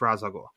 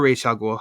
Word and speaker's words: Ra's al Ghul: No, we know from the beginning it's Ra's al Ghul or Ra's al Ghul, however you prefer to pronounce it. It's Ra's.